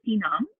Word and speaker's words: Sienam: As Madhu said, my name is Sienam. Easiest way to remember rhymes with Vietnam.